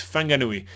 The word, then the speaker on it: Whanganui: in New Zealand, you usually say F, right? So it's Whanganui, and if you have just W, it's just Wang, so that would be Whanganui. And so that's basically the difference between the English pronunciation and the Maori pronunciation. So I think, from what I understand, that now it's all on the Maori pronunciation, so it's Whanganui. So WH would be the right kind of way to go.